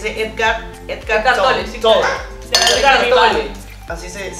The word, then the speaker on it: Tolle: Edgar Tolle. Así se pronuncia.